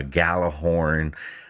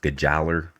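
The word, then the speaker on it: Gjallarhorn: ruin or it's uh gallahorn um actually it's pronounced geller as i hear in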